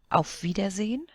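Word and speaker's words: Auf Wiedersehen: A vidazine of And it's pronounced almost as if there wasn't an e at the end.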